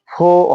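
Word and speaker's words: four: আগে আমরা উচ্চারণ করেছি ফোর কিন্তু আসলে এর উচ্চারণটা ফো হবে কেননা এর আগে আমরা একটা বিষয় শিখেছি যে ওয়ার্ডের শেষে যদি আর থাকে আর টা উচ্চারিত হয় না দেখুন ফোর বা স্পেলিং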